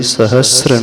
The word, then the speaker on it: सहस्र: सहस्त्र नहीं है, सहस्र। बहुत सारे लोग सहस्त्र बोलते हैं। जिन सहस्त्र नाम नहीं होता है, जिन सहस्र नाम होता है। स है और र है, वहाँ पे त नहीं है।